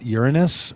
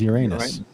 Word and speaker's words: Uranus: our conversation but on this one does one pronounce it uranus or does one pronounce it as a giggling junior higher as uranus you can do either one you're free to